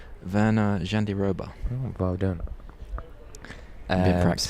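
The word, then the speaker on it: Virna Jandiroba: Mackenzie Dan and how do you pronounce her name? Verna Jandiroba.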